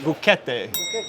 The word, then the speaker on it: buchette: Buchette del vino. Buchette. How do you say in Florence? Buchette. Buchette, con la sci aspirata.